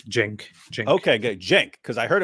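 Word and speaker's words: Cenk: you're actually Turk Jen the C is pronounced as a j yeah yeah it's Jen Jen Jen because I heard him called that but I've also heard people call him chank so people just don't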